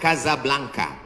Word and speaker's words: Casablanca: nama negaranya Maroko ibukotanya tulisannya Casablanca cara bacanya Kasablanka Kaza artinya rumah blanka